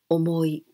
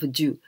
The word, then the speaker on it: 重: And here, this jū, it is the adjective, e adjective, and we say omoi, omoi. So we can pronounce omoi instead of jū.